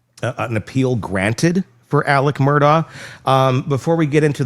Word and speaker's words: Murdaugh: What in the hell do we do about the pronunciation of this damn family? It's Murdoch.